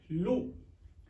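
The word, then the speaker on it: lieu: एल आई ई यू कई लोग इसको ल बोलते हैं बट प्र लू नॉट ल इसका जो उच्चारण है व लू है ना कि ल तो इसमें पहला कंसोनेंट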